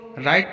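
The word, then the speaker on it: write: For example राइट, यहाँ डब्ल्यू के बाद आर आया है तो यहाँ पर डब्ल्यू का उच्चारण नहीं किया जाएगा, इसको राइट पढ़ेंगे।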